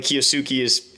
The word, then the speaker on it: Kiyosuke: Apparently, Kiyosuke is how you pronounce it. Even though both are okay, he prefers one over the other.